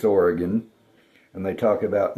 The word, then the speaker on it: Oregon: You can always tell somebody who doesn't know how Westerners pronounce things, they talk about Oregon when it's Oregon and they talk about Nevada when it's Nevada.